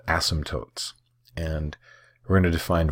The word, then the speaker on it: asymptote: So it's kind of a weird spelling and a weird pronunciation. Again, it's asymptote.